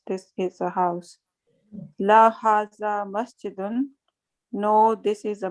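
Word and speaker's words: هذا: Haza is pronounced haza, but it is written without the first alif.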